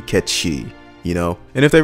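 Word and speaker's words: Cait Sith: character came from this is the name as it should be it should be Kechi you know and if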